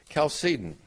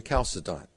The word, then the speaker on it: Chalcedon: as the Council of calcium by the way I love to pronounce it that way rather than kalsa dot because I had a